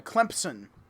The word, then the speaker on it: Clemson: I thought it was always with a P. I thought it was always a P in Clemson. CLEMPSON. Yeah, Clemson.